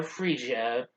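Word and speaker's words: Frigga: the ather thor's mother freesia yeah that's how you pronounce it not forget i do apologize since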